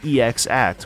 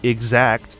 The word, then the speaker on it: EX Act: This technique is called EX Act, which I have realized while writing this, 15 years after release, is probably meant to be pronounced exact.